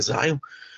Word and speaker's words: Xeon: temos servidores da linha Xeon, ou Xeon, como queiram, a pronúncia correta é Xeon, nós temos processadores com 16 núcleos, com 32 núcleos, tá?